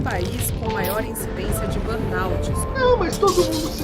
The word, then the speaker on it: burnout: Então assim, eu também estou pronunciando errado, não sou americano, né? Mas é burnout.